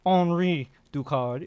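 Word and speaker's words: Henri Ducard: So instead of Bruce traveling all around the world getting all these different masters like Henry Dukard or Henri Dukard if you you know French pronunciation and [ __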